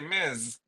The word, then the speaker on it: Ms.: I can say Miz. Yeah, MZ is I mean, honestly, I should I should spell it MZ, but the fact that D not is actually spelled when you say Miz bugs me.